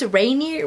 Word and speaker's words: Rainier: So this book revolves around the community way up there in like Mount Rainier. That's how you pronounce it.